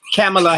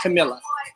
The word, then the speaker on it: Kamala: Kamala Harris, not Camilla.